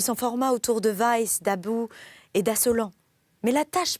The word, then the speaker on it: About: d'assolant mais excusez-moi je je j'ai mal prononcé le nom àout jeai prononcé à l'amri à l'anglaise d'about bah voilà pourquoi pas d'about non c'est pas du tout ça c'est d'Abou on va le prononcer à la française donc je vais reprendre